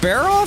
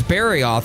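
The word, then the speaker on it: Barroth: I was just like, "Oh yeah, I've got to fight a high ranked Barro. No problem." And then I realized that I got the name wrong and it was Barryoth.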